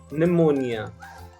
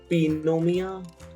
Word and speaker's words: pneumonia: word is pneumonia pneumonia now please notice that the letter p is not pronounced in the word pneumonia does anyone say pinomia or wait i would just sound very weird right you just say pneumonia you don't say pinomia psychology so what you